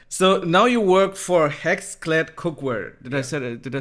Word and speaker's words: HexClad: So now you work for Hexclad Cookware.